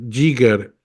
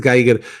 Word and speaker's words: Giger: Giger o Giger, nunca he sabido cómo se pronuncia, creo que es Geiger, y creo que es